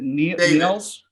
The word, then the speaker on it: Niels: wanna we just wanna say that um i pronouncing your name right is it nearls yes yes well i'm now i'm flabbergasted neil uh where did you get the idea from